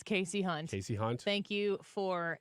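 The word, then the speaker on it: Kasie Hunt: It's Casey Hunt. Casey Hunt. Thank you for that crack research, Leah, to get us the correct pronunciation.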